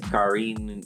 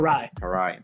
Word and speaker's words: Karai: And I do know it's hard to pronounce. It's Karine or something. Karai.